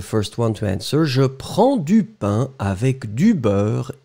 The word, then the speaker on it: prends: Remember that when you conjugate prendre for the first person, je prends, it goes with DS in the end. So don't forget the S, even if we don't pronounce it, you should definitely write it.